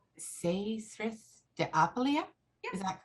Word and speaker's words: Saethryth de Apeleia: We'd like to welcome everybody to Lion's Den and to thank, I think it's pronounced Saethryth de Apeleia. Yeah. Is that correct? Yeah, Saethryth de Apeleia.